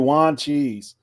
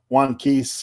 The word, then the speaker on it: Wanchese: So if you Google it, that's how you say it too, Wanchese, not Wankees or one cheese or whatever you want.